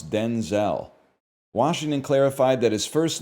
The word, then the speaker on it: Denzel: That's how we got to pronounce Denzel.